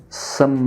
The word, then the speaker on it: some: With some other friends. Mais uma vez aqui, ó. Um E que é mudo, né? Some. Só fecha a boca, tá? Some. Aí, como o E não se pronuncia,